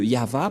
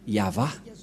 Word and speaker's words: Yahvah: Voilà le nom de Yahva prononcé par le grand-père Moshe, Ya, Yahva.